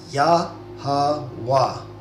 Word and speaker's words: Yahawah: So Yahawah, okay? So that's how you pronounce God's name.